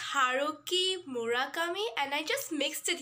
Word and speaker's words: Haruki Murakami: and i saw that i said harukami it's haruki murakami and i just mixed